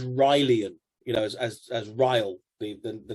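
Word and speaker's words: R'lyeh: of the language um it's like you say but you don't know do you really rally or you know it was whatever he decided it was to be pronounced and so i think there was a certain amount of an arrogant smile at writing it one way and then telling everybody that's not how you pronounce it so he's kind of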